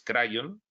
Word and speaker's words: Kryon: conocer afición por cierto yo digo crío entiendo que tiene su sentido cómo se pronuncia en el idioma inglés crayón pero bueno a mí